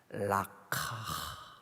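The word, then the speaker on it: לקח: 데려다가 이 데려다가를요, 히브리 말로 이렇게 발음합니다. 라카.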